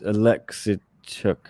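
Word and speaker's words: Oleksiejczuk: We got the correct pronunciation given to us on the preview, Chris and I. It was Alexichuk, I think.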